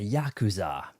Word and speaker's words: Yakuza: Greetings, Legendary Badass here, playing for the first time a Yakuza. That's the correct way to pronounce it.